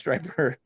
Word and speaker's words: striper: Spelled stripper. Pronounced striper.